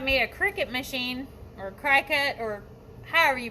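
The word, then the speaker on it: Cricut: a cricket machine or cry cut or however you pronounce it i think most people say cricket to me looks like cry-cut but anyway got me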